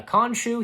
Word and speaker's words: Khonshu: Yeah, Khonshu. He was a pretty good character, and I was happy to where I read this that F. Murray Abraham, he's still open to continue voicing Khonshu, and yeah, and oh, I didn't see this.